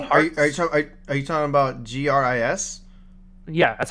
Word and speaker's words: GRIS: Are you talking about GRIS? Yeah, that's how it's pronounced. It's pronounced Gris. It's Gris.